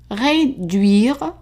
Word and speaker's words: réduire: Réduire la chaleur à 375 degrés. Réduire. So remember the UI here is pronounced as a oui and the last E is silent. So réduire.